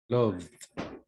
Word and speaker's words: loved: Loved, Excellent, with loved, D. Loved. loved, Love.